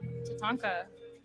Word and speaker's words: tatanka: Tatanka.